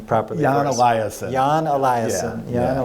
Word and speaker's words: Eliasson: And pronounce his name properly. Jan for us. Eliasson.